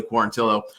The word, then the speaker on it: Quarantillo: want to say quarantio i think it's actually pronounced billy quarantillo uh dominance dominance i